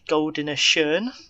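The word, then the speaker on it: Gouden Schoen: holder of the Belgian Goldene Schoen, so the gold shoe. Good pronunciation. You've practiced that. Yes, I know. You've practiced that. Well, Dutch. Why not? It's better than the French pronunciation.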